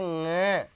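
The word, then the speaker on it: ङ: इसके अंतर्गत आएगा क, ख, ग, घ, और इसको बोलेंगे ng, क, ख, ग, घ, और इसको बोलेंगे ng। नाक से, नाक से बोलेगा, ये न और ग से मिलकर नहीं बना है, मैं उच्चारण के हिसाब से बोल रहा हूं।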